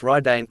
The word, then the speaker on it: Radiant: This was Radiant, pronounced Raidane, the Lightning Warlord.